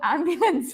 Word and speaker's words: ambulance: Tha speakers have right very often at the end of a word you don't pronounce the ending correctly for example you say